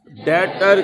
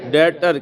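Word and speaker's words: debtor: Business जिस customer को उधार पर सेल करता है उसको बिजनेस का डेटर कहते हैं। बी इसमें साइलेंट है। उसको बिजनेस का डेटर कहते हैं।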